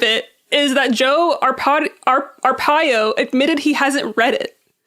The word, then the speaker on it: Arpaio: Arpaio.